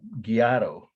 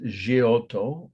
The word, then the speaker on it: Giotto: And when I was growing up, Giotto is how they would say it in Indiana, but it's Giotto, and he is one of the all-time greatest painters in at least Western art.